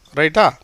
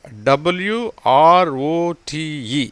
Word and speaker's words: wrote: இதை பாருங்கள், WROTE. இது நீங்கள் கேள்விப்பட்ட ஒரு வார்த்தை, எல்லாருக்கும் இந்த வார்த்தை தெரிஞ்சிருக்கும். ரைட், ரோட், return. ரோட்டுங்கிறது past tense. டபிள்யூக்கு உச்சரிப்பு கிடையாது, ஏன்னா டபிள்யூக்கு அடுத்து ஆர் வந்திருக்கு.